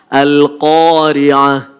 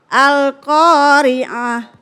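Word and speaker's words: القارعة: Al-Qari'ah. Iya, qafnya sudah bagus tapi kepanjangan. Harus 2 harokat aja. Al-Qari'ah. Al-Qari'ah.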